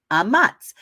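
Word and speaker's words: אמץ: The command to have good courage is H553 in Strong's and the Brown Driver Briggs, and it's pronounced amatz. So what have we got? We've got hazak amatz, hazak amatz, hazak amatz.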